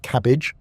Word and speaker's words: CABG: In more complex cases or when multiple arteries are involved, doctors may recommend coronary artery bypass grafting or cabg, pronounced cabbage.